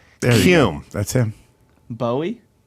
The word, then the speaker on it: Bowie: Buoy that his name buoy what's his last name of Hume or cume Hume buy that's him Bowie yeah but he pronounced it buoy yeah buoy cun